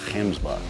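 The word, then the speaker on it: gemsbok: One of the other animals she wants to get is a hemsbuck, and that's really how you say it, but a lot of people call them oryx.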